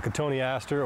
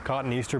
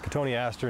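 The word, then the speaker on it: Cotoneaster: us we have a katoni Aster or as Dwayne said commonly mispronounced as cotton Easter but it's Katon Aster and Dwayne what do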